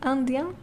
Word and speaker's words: indiens: Nous sommes indiens, nous sommes indiennes. So please note, when it comes to plural, you add an S, but you do not pronounce the S, okay?